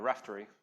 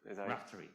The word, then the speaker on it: Raphtory: say so how should i say it a raftery raftery so you're the uh i think it was